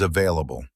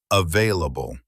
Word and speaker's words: available: Now, word number 3 is available. 4 sounds. Available. The stress is on the second part, they.